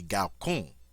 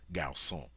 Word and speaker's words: garçon: Normally, this C, because it's followed by an O, should have a hard sound, so this word should be garçon. But for some reason, the French have chosen to make this a soft C sound.